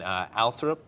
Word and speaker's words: Althorp: Now, you know, Connecticut is fun, but you live in England, in Althorp. Yes. I pronounced that correctly?